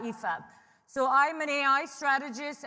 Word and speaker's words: Aoife: help anyone okay so if you think of FIFA the football and then take the F off you've got EAB so I'm an AI